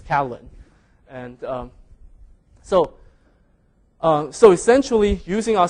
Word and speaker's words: Catalin: So now I have to sort of settle for the second best that the C-A-T-I-L-I-N but I still would like to pronounce it as Catalin.